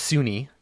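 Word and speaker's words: Sune: It's actually pronounced Sunni.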